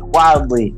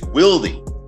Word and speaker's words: Willdy: It is Willdy. The name is it's Willdy. I have to correct it. Yes, I have to pronounce that properly. I feel terrible because I've been saying it Wildly forever.